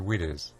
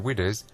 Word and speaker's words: Widders: The Crown Inn on Barrack Lane in Cradley has for many years been known colloquially as the Widders, a Black Country pronunciation of Widows.